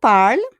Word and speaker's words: parles: Tu parles. Yeah, OS, but we don't pronounce the S.